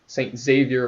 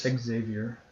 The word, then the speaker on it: Xavier: You pronounce the X.